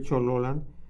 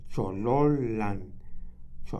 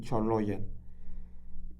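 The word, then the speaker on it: Cholollan: Tiene una doble l ahí este cuando cuando se escribe chololand se escribe eh como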